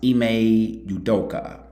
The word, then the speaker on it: Ime Udoka: I believe it's pronounced Ime Udoka.